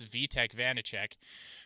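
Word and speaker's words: Vaněček: I've been call I've been pronouncing his name wrong this whole time and you all have probably been shouting at me. It's VTEC Vanichek who stopped 32 of 33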